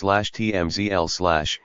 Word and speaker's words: CHMSL: The so-called center high mount stop lamp, or CHMSL, pronounced /TMZL/, is sometimes informally called the center brake light,